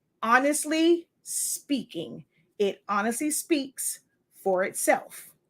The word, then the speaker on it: Honestly SpINKing: so that's the name it's a play on words to have that ink part stand out but it is pronounced honestly speaking it honestly speaks for